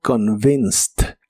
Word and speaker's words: convinced: En el pasado es convinced, es un verbo regular, por eso el final termina con e d. Pero esta e d se pronuncia como t, como convinced. Convinced.